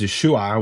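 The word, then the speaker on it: ישוע: It's written as Yeshu in you could call it Aramaic or Hebrew, and then it's written as Yeshua with an Ayin, but the Galileans didn't pronounce the Ayin, so Yeshua became Yeshu, right?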